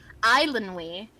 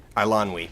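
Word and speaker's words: Eilonwy: The I is before the L, and it says that it is Islandwy, like Islandwy. Islandwy. Islandwy. Princess I'm pulling up this actual Princess pronunciation.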